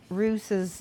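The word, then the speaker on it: Russ: And I just found out today from a friend of mine that Lehman Roos's name is pronounced Roos because I guess there was some promo that came out somebody told me about.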